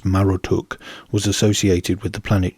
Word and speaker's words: Marduk: theme of serpentine Conquest marduk's symbolic animal and servant whom he once vanquished is the dragon mushusu and Marduk whose name was likely originally pronounced as marutuk was associated with the